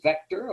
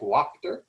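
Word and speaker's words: Wächter: otto von i think the correct pronunciation is vector although it might look to the american eye like wachter however this is much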